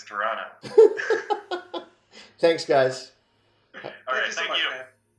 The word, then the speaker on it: Toronto: you go see it's crazy can't be should pronounce that second tea though right it's Toronto thanks guys all right